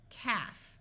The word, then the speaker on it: calf: most important exceptions h half notice the L is silent in this word c AF calf a calf is a baby cow Alps this